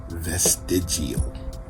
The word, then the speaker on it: vestigial: in humans, this organ is thought to be vestigial.